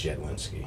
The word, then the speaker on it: Jedlinski: It's Jedlinski.